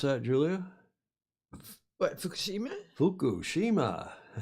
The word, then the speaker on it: Fukushima: Fukushima. You got to be careful. Fuck you, Shima. I said it. Shame on you. I know, shame on me. But that is the Fukushima Daiichi. Fukushima Daiichi nuclear power plant.